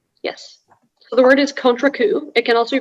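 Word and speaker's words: contrecoup: all the information yes so the word is contra coup it can also be pronounced contracu it's a noun it's from french it means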